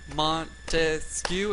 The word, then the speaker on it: Montesquieu: good all right so if you use his name and you pronounce it Montesquieu and you clapped and that it'll remind